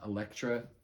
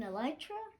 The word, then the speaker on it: Elytra: and stuff like that the uh Electra makes you fly the wings you mean elytra yeah wait am I